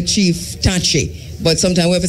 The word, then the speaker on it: Takyi: In Ghana, the name Taki exists, but it's not pronounced Taki, and it's not spelled Tacky, but Takyi or Takyii, and so to the name Sachi, Sakyii, so that it would be Tachi, or Sachi.